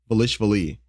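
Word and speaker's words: Dvalishvili: How do you pronounce his name? Velishvili.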